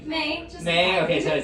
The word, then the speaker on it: Mae: Mae.